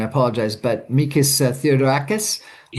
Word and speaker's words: Mikis Theodorakis: And uh I'm going to get this pronounce the name wrong, I apologize, but Mikis Theodorakis?